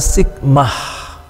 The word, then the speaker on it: sigma: huruf besar kecilnya ya dibaca sigmah seperti pada kata s dalam transliterasi dan seperti pada pengucapan kata sabar dalam bahasa Indonesia setelah Sigma tau perhatikan